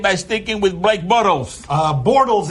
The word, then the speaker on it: Bortles: stinking with break bottles bortles is his name he continues to pronounce it bottles for reasons that are